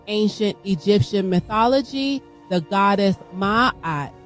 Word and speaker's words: Maat: Egyptian mythology the goddess Maat pronounced as mayette sprung up into existence